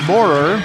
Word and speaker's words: Moorer: That's not a perfect rhyme because it's Moorer with 2 syllables, kind of like the former heavyweight boxer Michael Moorer.